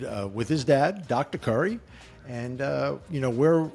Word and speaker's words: Khuri: Uh, today I have the privilege of speaking with Mark Curry. Yes, pronounced like Steph Curry. Mark Curry from SMK Capital Management out of Bend, Oregon.